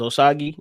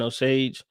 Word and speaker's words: Osage: I thought it was Osage, but they were saying Osage, so we gonna roll with that.